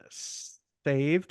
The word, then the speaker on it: S4V3D: And this is from Saved, which is spelled S4V3D.